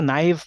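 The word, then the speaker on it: naive: है ना ठीक है नेव भी नहीं इसको नाइव प्रोनाउंस करते हैं शायद है नाइव और पैरामेट्रिक एन यूजर्स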